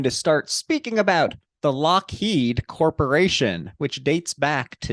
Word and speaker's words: Lockheed: to 1912, when Alan, we're going to go with Lockheed, but it's spelled Loughead. Fun fact, there's some back and forth purchasing of the companies. He changed the spelling to match the pronunciation.